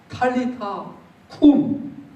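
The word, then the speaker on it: Talitha koum: 군이라고 이렇게 얘기해요 근데 이게 아람어 발음으로 제가 정확하게 좀 더 발음을 해 주자면 이렇습니다 탈리타 쿠 근데 여러분들 이게 굉장히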